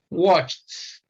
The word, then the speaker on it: watched: see the transcription here watched watched so you find t as the sound that comes at the that represent e d here this is watch all